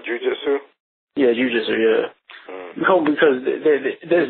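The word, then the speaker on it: jiu-jitsu: um how jinjutsu um is it Jin Jitsu no it's not how you say it jiujitsu yeah jiujitsu yeah because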